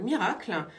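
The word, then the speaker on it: Mirakl: Autre info du jour, c'est donc Miracle. Ça s'écrit M-I-R-A-K-L, qui devient une licorne française, c'est-à-dire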